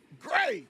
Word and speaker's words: Gray: Gray Schmiddle, not Gary, say his name right.